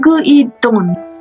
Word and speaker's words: Gwendolyn: It's pronounced Gu-i-don, she said, ending with a friendly smile.